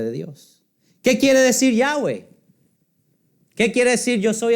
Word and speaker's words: Yahweh: Es el nombre Yahweh. Se escribe con las letras YHWY. Yahweh. De ahí es que viene el nombre Jehová.